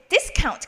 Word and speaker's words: discount: discount 같은 경우는 반대로 discount가 아니라 discount 하고 this에다가 액센트 주시면 됩니다.